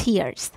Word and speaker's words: tear: Filled with tears. Tears. دقت کنید که تر نیست. تر به معنی پاره کردنه. ولی در صورتی که این کلمه معنی اشک رو بده تلفظش میشه tear.